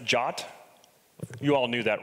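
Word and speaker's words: JWT: so first of all JSON web tokens are pronounced jot you all knew that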